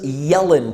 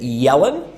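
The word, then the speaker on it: Jelen: popular beer here in serbia and this is yellen pivo that's how you pronounce it yellen and yellen in english language is a deer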